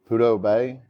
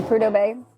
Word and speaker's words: Prudhoe Bay: Did you ever wish that you had done it as, and I know I'm going to mispronounce it, but Prudhoe Bay? Yeah, Prudhoe Bay.